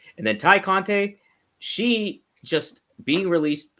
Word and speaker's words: Tay Conti: Obviously, have we confirmed that it is pronounced Ty Conte or Tay Conti? It's Ty. Ty Conte.